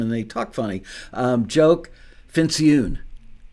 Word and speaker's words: Fincioen: Joke Fincioen. Yeah, rhymes with balloon.